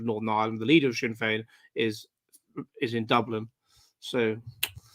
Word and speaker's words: Sinn Féin: How do you pronounce it? Sinn Féin? Sinn Féin.